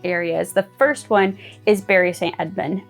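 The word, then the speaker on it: Bury St Edmunds: the first one is Barry St Edmund I know it's spelled like bury it's it's not pronounced like that it's Barry Saint Edmund but yeah like that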